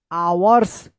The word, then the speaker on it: hours: इसको पढ़ेंगे आवर्स। क्या पढ़ेंगे? आवर्स। यहां पे भी एच का उच्चारण नहीं हो रहा है, यानी एच साइलेंट है।